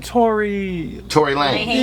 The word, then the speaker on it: Tory Lanez: Tory Lanez.